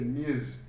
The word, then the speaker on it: Ms: A partir dos anos 70, se criou o pronome Miss, que é MS, se pronuncia como se fosse um Z, Miss, que é tido como